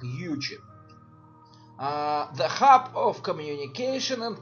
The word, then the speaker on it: Uchit: По-русски это читается как Ючит.